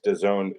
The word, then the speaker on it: DAZN: You're watching the Devin Haney Regis Prograis DAZN pay-per-view. Of course, we know that DAZN rhymes with calzone.